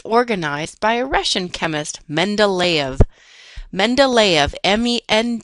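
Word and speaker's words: Mendeleev: The periodic table was first organized by a Russian chemist, Mendelv. Mendelv. Mend d e v is pronounced mendav.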